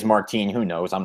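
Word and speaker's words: Martín: Marcos Martin, right? Is that it? Yeah, that's it. Yeah, make sure I'm pronouncing it right, because I don't want somebody to say, no, it's Martine, and then I feel like an idiot or something like that. Well, I think it is Martine.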